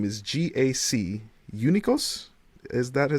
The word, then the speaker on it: Eunikos: I'm joined by Mya Berkaman here from the team name is GAC Eunikos. Is that how it's pronounced?